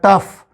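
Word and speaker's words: tough: इसी तरह से ओ यू जी एच एक पूरा कॉम्बिनेशन है जो कभी अफ की साउंड देता है और कभी ऊ की साउंड देता है। तो यहां पे ये अफ की साउंड दे रहा है। तो टी पहले लगा अफ से तो बन गया टफ टफ।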